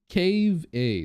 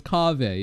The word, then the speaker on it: Kaveh: Cave A. No. How do you pronounce that again?